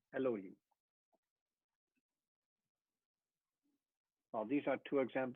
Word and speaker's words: Elohim: That means that when you pronounce it, you don't say Elohim or Elohim, it's eh. It's a very short E, Elohim.